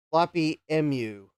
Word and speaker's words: Floppy Emu: Ah, Jason says, "I say it like the letters mu because it's an emulator." Floppy MU.